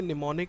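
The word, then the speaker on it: mnemonic: के सामने जो ML आप एम को साइलेंट रखेंगे हम नहीं पढ़ा जाता है इसको पड़ेगा निमोनिक कोड तो इसमें जो सिंपल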